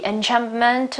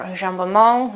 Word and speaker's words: enjambment: She also uses a lot the technique of the enjambment or enjambement, okay, which is a French pronunciation, which means that the